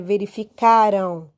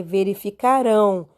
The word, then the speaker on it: verificarão: Então, você não pode dizer que é verificaram. Não, é verificarão. Então, o rão é a sílaba forte de todos eles.